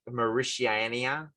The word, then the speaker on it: Mauritania: You won't get it, and I can't even pronounce the country properly. Okay. It's like Mauritania.